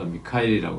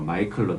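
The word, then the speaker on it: Michael: 이제이 마이클이라고 하는 남자 제가 지난 시간에는 그 미카엘이 했는데 뭐 미카엘이 하던 마이클이 뭐 사실은이 영어식 발음이라 조금 뭐 다르게 발음할 수도 있는 상황이라서 지난 시간에는 제가 이렇게 미카엘이 했던 거 같은데 뭐 이제 책에 제가 다시 보니까 마이클로 나와 있어서 뭐 정상적으로 미국에서는 주로 마이클로 불리는 이름이니까 제가 조금 착각했었습니다 어쨌든이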